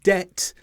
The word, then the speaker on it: debt: and then doubtful and debt where the B comes before the T in all of these words the B is not pronounced there are some exceptions